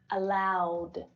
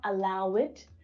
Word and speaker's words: allowed: in Jan right so if the infinitive verb ends in one of these sounds then the IDI is pronounced as do allow ending in the no voiced consonant sound becomes allowed not a I would know this is a really really common error it's not allow it but allowed it's not